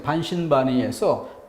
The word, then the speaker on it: 반신반의: 자, 근데 세 번째 반신반의에서 포인트는 요 세 번째 음절을 길게 발음하고 있다는 것입니다.